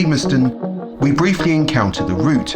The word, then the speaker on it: Limerstone: I recently found out after filming is actually pronounced Liston we briefly encounter the route of the walk